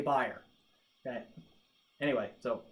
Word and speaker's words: Beyerdynamic: to pronounce that because i'm going fire dynamic on this instead of bare dynamic because i've heard people who work for buyer say buyer okay anyway so k